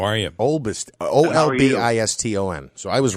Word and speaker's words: Olbiston: Is it Obliston or Obliston?